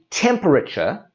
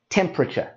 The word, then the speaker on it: temperature: word is temperature and this is a long word and that is why we drop out that whole extra sound so instead of saying temperature we say temperature and we drop out that sound typical use of temperature